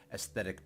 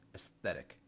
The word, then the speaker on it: aesthetic: It's aesthetic. There's a TH in there. I guess most people say aesthetic. Incorrect.